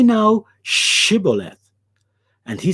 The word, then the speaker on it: Shibboleth: unto him, Say now Shibboleth. And he said, Sibboleth. For he could not frame it to pronounce it right. He couldn't frame the sh sound. So it came out as s.